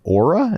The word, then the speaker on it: Oura: So they're coming on strong, trying to take down Oura?